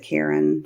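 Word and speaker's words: Caron: I use this, I pronounce it Karen. Some people pronounce it other ways.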